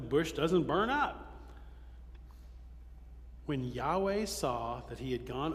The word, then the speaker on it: Yahweh: a long time we thought the word was pronounced Jehova but it's not it's probably better pronounced Yahweh Yahweh so every time you see LD in caps